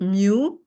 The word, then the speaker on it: mu: letter for m u mu you just pronounce it like like new it's mu it represents big so